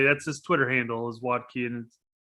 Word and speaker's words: Berhalter: vodka is that vodki how does he pronounce it watki i'm going with watki but i don't pronounce names oh he's he's not german he's american so yeah he probably goes with watki but in german it'd be valky which would be much cooler